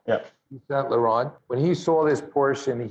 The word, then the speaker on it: Yves Saint Laurent: Am I pronouncing it right? Yves Saint Laurent, yeah. Yves Saint Laurent.